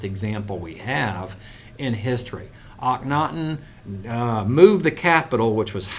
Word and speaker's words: Akhenaten: Akhenaten is how you say this.